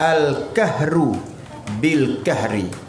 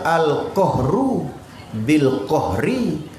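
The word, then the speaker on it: القهر بالقهر: Tak dia bacanya Al-Kahru bil Kahri. Lepas tu tahri ulang 3 kali. Kalau mengikut nak betul kan kena baca Al-Qahru bil Qahri.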